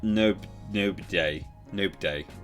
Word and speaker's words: Nobday: not no no BJ nope day Norman nope day pronounced knob they see plummy gifted a